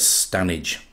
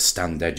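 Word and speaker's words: Standedge: about three miles long it's spelt stand edge but it's definitely known as stanage i've seen it pronounced on tv as stand edge as well and i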